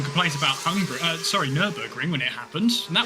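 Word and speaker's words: Nürburgring: for some reason acally Megan can never pronounce nurburging she always calls it Newberg for some reason accidentally my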